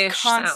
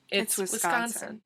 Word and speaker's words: Wisconsin: Yeah, It's a soft It's not K-ish Wisconsin, sound. like people in Pennsylvania say. Yeah, they overpronounce it, so it's Wisconsin. Well, that's great, but it's also not Wisconsin. It's not Wisconsin. It's not Wisconsin. It's Wisconsin. Because there's a sk. Just relax. Like scat.